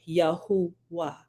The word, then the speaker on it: Yahuwah: uncover that right and the the improper pronouncing improper pronunciation yeah they would be correctly uh rendered and it would be yahuwah right so I got a